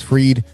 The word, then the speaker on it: Fried: also have uh Max freed who for some reason his name is freed although his name is spelled fried I don't understand that